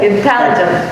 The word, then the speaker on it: intelligent: Intelligent. Intelligent. Intelligent. Okay. The second. Intelligent. Second. Ya. Intelligent. Second syllable.